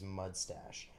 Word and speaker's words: Mud Stache: stache training wax and yes I said that I didn't I didn't mispronounce that it is mud stache so you can see